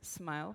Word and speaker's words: SMIL: can remember it as smile pronounced like that like the facial expression another animation format from